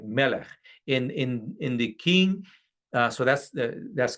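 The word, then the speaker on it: מלך: The word for king in Hebrew is pronounced like melech.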